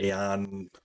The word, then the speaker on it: Aion: played was uh ion aion some people pronounce it aeon ion anyway uh one